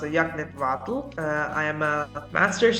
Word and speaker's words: Yagnit: It's pronounced Yagnit Vadel.